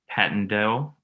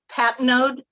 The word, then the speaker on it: Patnode: It's Patnode. It's pronounced like P-A-T-N-O-D-E. Patnode.